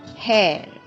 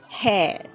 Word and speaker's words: hair: diing diing diing hir hair hair hair just notice the r sound is not pronounced so clearly in British pronunciation that we'll take it